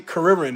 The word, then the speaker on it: Kuririn: People got that Krillin style, or actually Kuririn is how it's said in Dragon Ball. Kuririn is the actual pronunciation.